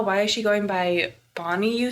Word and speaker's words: Bani: That's how you spell it in, like, India or whatever. It's B-A-N-I.